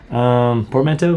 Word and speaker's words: portmanteau: Portmanteau?